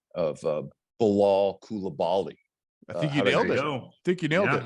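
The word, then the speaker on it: Bilal Coulibaly: you want me to try my debut uh pronunciation of uh Bilal kulabali I think you know that you got it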